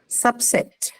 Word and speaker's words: subset: Next, you have subset. A noun, first Subset. syllable. Noun, first syllable. Okay, noun, first syllable.